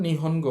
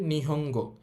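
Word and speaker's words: 日本語: এখানে আছে গো তো ন এর পর গা লাইনের বর্ণ আছে সুতরাং ন এর উচ্চারণ হবে অং তাহলে এটা নিহন হবে না এটা হবে নিহঙ্গ নিহঙ্গ অর্থ হচ্ছে জাপানিজ ভাষা।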